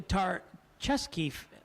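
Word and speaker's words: Tarchesky: for ken chesky okay tar like the la brea tar pits chest like a game of chess and key like a key so tomorrow i'll still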